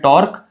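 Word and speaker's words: torque: QUE, pronunciation है इसका टॉर्क। कई बार इसको टॉर्क क्यू करते हैं, क्यू बोलने की जरूरत नहीं है, टॉर्क होता है।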